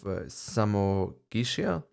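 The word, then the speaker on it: Samogitia: So that was the war about the region of Samo Gishia. That's how I should pronounce it.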